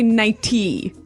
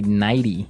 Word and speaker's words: nightie: You don't say nighty. You say nighty. Yeah. You you make the t a d.